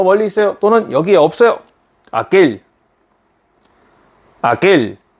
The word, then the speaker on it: aquel: aquel. 네, 이렇게 발음합니다.